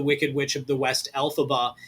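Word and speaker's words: Elphaba: Uh and another fun fact, the name of the Wicked Witch of the West, Alphaba, is actually just the three letters of the author, phonetically speaking, EF or Alphaba.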